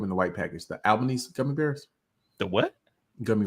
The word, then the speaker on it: Albanese: Albanese.